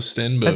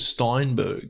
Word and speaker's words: Stenberg: know you could not have butchered that anymore me amandla stenberg that's her name yeah okay i don't know you i think you you said steinberg no steinberg steven steenberg is a stenberg is